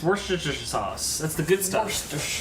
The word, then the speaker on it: Worcestershire: this correctly because i learned about how y'all pronounce things forced sauce yes from lee and parents oh that's the good stuff it's worcestershire sauce that's the good stuff all right i